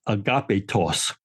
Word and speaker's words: agapetos: But the word is agapetos. So you can hear agape and just add an extra syllable, tos, and makes it into adjective, beloved.